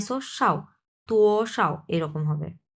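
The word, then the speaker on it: 多少: যে মাঝখানে যেটা তুটা এক নাম্বার টন তু এরকম হবে আর এখানে একবারে নিউট্রাল টোন কোন টন নাই সোশাও তু সাও এরকম হবে উচ্চারণটা ওকে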